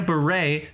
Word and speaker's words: beret: Collecting berries while wearing a beret, nicely done, comes to us from Sean. I loved that one. And got you 5 votes. It makes more sense if you pronounce beret like berry.